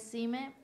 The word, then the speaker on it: Xime: ¿Es Sime o Jime? Porque me pusieron Sime con X. Sí, es Sime.